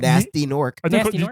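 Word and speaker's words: Gnasty Gnorc: Did you call him Nasty Nork? Did you pronounce the G in the first one? Nasty? Nasty Nork. Oh, okay, yeah. I thought you had the G and they're like nasty. Nasty. Like gnocchi.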